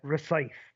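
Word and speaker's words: Rosyth: in in real life called recy um so it's spelled r o s y t h recy um uh and it's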